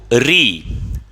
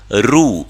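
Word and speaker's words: ऋ: You have to repeat this within, and these are like we pronounce this way: a, I, u, ri, ri. This ri in Maharashtra and Gujarat called ru.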